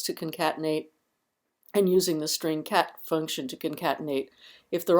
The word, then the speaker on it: strcat: start with Str Str so it's easier to pronounce that as string even though it's St Str so the string cat function is the string concatenation concatenation function it